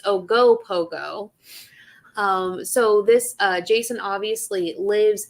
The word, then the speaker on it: Ogopogo: I like to say Okopogo, but that's not how you say it. It's Ogopogo.